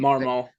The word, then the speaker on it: Marmol: I want to get on board with Oliver, and you said they pronounce his last name a little bit. Marmol.